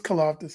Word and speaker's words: Karlaftis: So George Karlaftis, I know I might pronounce his last name wrong, but no, I think you got it right. It's Karlaftis.